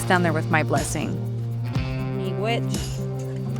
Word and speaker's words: Migwech: Miigwech. How do you say it in your language? Miigwech.